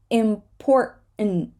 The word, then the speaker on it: important: written written certain certain important here it's a Double T situation right so we're not going to say this T we're going to hold it and we're not gonna say this T import that's it important right it sounds important so the word something